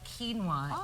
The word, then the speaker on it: quinoa: So quinoa is usually like in the grain section. It's spelled Quinoa. Remember, people always like, how do you pronounce this?